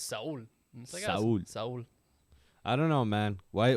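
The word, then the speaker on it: Saúl: a guy who's really soul right saul his name is saul saul yeah that's a name it's okay i mean because in spanish it's soul i don't know man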